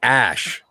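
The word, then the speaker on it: Æ: okay and then um oh it's ash that's how you say it oh okay oh well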